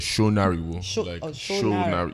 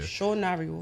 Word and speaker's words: Sonariwo: But then I'm Yoruba, so if you're not saying it's like SONARIWO. SONARIWO.